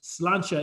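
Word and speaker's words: Sláinte: it looks like ciante is actually pronounced slancha in gaelic so that actually means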